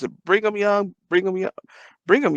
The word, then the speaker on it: Brigham Young: last like years so I think it was Brigham Young University in Utah I'm trying to research it right now bring them young universe it's BYU it's a Brigham Young bring them young bring them y'all don't sound